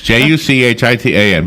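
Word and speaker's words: Juchitán: It's Juchitan.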